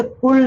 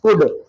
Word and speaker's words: could: कुड में ध्यान रखिए इसे कुल्ड नहीं बोलना है इट इज कुड एल is silent over here right तो लेट्स डिस्कस